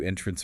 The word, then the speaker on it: entrance: The entrance noun stress on the first syllable to the building was small. The magic show served to entrance verb stress on the second syllable.